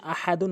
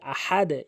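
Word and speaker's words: أحد: হামজা জবর আ, হা জবর হা, দল দুই পেশ দুন, আহাদুন ওয়াকফ করলে আহাদ। এখানে হা হলকের মাঝখান থেকে চাপ দিয়ে উচ্চারণ করবেন, আহা, দাল দুই পেশ দুন, আহাদুন ওয়াকফ করলে আহাদ, নিচের দিকে সাউন্ড।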